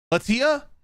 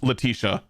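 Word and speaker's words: Letitia: general man I am blanking on how to pronounce that Latia Latia James however it's actually pronounced I I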